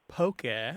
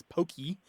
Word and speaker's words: poke: usually comes out as pokey or poke. I have seen it have an accent on the E, but that is incorrect. I think people are being influenced by Pokemon. But poke.